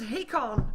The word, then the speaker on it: Hakon: It is Hakon who is going to be playing the Shadow Demon, and I have been told that that's the way you pronounce his name.